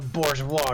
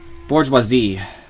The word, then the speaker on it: bourgeois: It's a bourgeois gift. Bourgeoisie. I thought that was like Technically, it's pronounced bourgeois, I was gonna say.